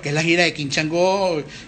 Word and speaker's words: Changó: King Chango con acento en la O.